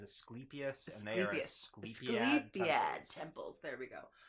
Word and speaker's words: Asclepius: this was talking about escalapiti's temples um I might have pronounced that God's name wrong I probably almost certainly did but what is his name his name is asclepius yeah temples there we